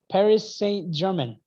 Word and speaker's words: Paris Saint-Germain: wait say that again please we call it paris saint-germain how did how did you say that paris saint-germain my goodness don't pronounce that you don't pronounce the aim at